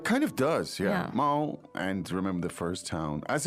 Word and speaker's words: 猫: 猫 Mao. Mao. First tone, right? Yes. Should be easy to remember as it sounds so much similar to meow. It kind of does, yeah. Yeah. Mao, and remember the first tone.